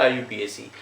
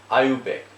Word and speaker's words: IUPAC: और all over world की जो भी केमिस्ट्री है उसमें कोई भी फेरोबदल है उसके लिए रेस्पॉन्सिबल कौन है, आयुपैक, international union of pure and applied chemistry, not आयुपीएसी, आयुपैक।